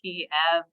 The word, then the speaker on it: Kiev: So Kyiv is the Ukrainian pronunciation of the capital, while Kiev is the Russian pronunciation.